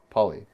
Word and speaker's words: Phaly: Wait, so it was spelled like the word pale but it's pronounced p poly.